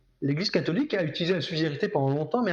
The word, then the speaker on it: subsidiarité: S-U-B-S-I-D-I-A-R-I-T-E accent aigu, comme ça se prononce. C'est ça. Subsidiarité.